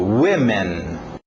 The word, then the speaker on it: women: agora o PR próximo objeto vamos ver a pronúncia aí eu explico Women Women eu até escrevi com dois s por